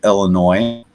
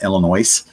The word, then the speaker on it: Illinois: The S is silent.